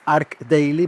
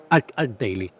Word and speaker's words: ArchDaily: So it should be arch daily but it's arc daily because it comes from architecture. And how do you say it? Art daily.